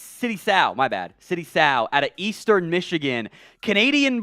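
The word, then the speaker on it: Sow: being an offensive guard so City so or sorry City South it rhymes with cow I have that in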